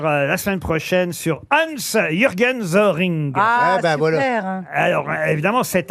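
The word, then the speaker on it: Soehring: C'est son vrai nom, Hans-Jürgen Zoring. Il vivait en France Ou Soring, hein, vous prononcez comme Oui. vous voulez.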